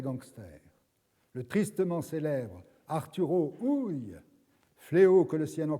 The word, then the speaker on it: Ui: Ui se prononce en allemand Ui. C'est Arturo Ui qu'il faut dire.